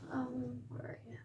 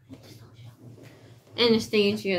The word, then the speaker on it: Anastasia: So, Anastasia. Anastasia, that's how you say it. Not Anastasia.